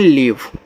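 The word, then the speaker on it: leave: एल इ ए वी ई इसको पढ़ते हैं लीव ऐसे एल से ल इ बड़ी ई की मात्रा और वी से आपका व ये हो गया लीव इसका उच्चारण लास्ट में इ आने पर होता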